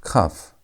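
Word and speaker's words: kaf: Our next word is letter number 11, which is cuff. Cuff. And cuff sounds like the way you pronounce it. It has the K sound. K as in key.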